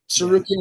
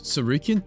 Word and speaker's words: Tsarukyan: You think I'm worried about freaking Armen Surukin with a with a with a what's it with a silent T at the beginning of his name?